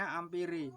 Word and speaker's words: ampere: Tulisannya ampere tapi bacanya ampere.